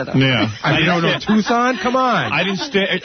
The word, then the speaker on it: Tucson: I remember one time you pronounced Tucson Tuxen. Listen. Everyone makes a mistake. Everyone makes a mistake. That's true. I don't think you studied Arizona though. Yeah. You don't know Tucson?